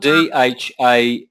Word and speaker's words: Dham: Aishvarya Dham. You see that word Dham? Yeah. Yeah. That's spelled Dhama. You don't pronounce the last A.